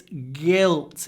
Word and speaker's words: guilt: not prove his guilt be careful it's not guilt it's guilt you need to start with GG and open mouth if you start here guilt you'll see Guilt with the Russian accent guilt G mouth open guilt guilt and a